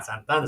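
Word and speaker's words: Santa Ana: Santana, California. Santana. Say it right.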